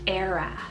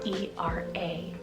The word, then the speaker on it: Era: of Joseph meaning Jehovah increases then I have era Spell e-r-a era now this one is a really unique